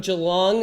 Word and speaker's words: Geelong: and we're gonna connect with Ben Duffy from Geelong Microsoldering.